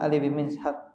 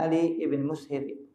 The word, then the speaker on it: Ali ibn Mushir: Kata Imam Bukhari rahimahullah taala, akhbarana Farwah ibn Abil Mighra qala akhbarana Ali bin Mishab. Yang benar bacanya Ali ibn Mushir. Ini salah cetak.